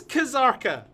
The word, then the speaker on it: Kazarka: Oh, this was like that time when someone told us the K in Kazarka is silent. No, man, it's Kazarka. I'm glad we got past that one. No. But everyone says Zarka because everyone's saying heave?